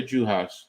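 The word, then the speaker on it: Juhász: no you got it it's Dorca juas um I'll tell you how to spell it though but yeah I remember watching her in the Pack 12 um but it's juas j a i mean ju ha SZ so um but yeah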